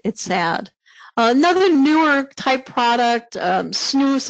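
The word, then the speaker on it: snus: Another newer type product, snooze, it's been around for a little while. It's snooze, rhymes with loose or goose.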